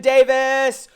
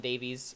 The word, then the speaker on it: Davies: yeah II that's right the E is silent I'm you know and I'm super guilty of it on the show I have slipped out and called you Alan Davies myself though even knowing